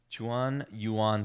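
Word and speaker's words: Xuan-Yuan: i can't pronounce it i know the x sounds like a c my goodness chuan yuan sword i believe is how you pronounce it don't quote me on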